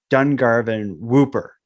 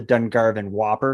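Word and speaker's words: Dungarvon Whooper: famous ghost story is the story of The Dun Garvin whooper some people call it the dung Garvin Whopper because it's spelled the same way as the burger but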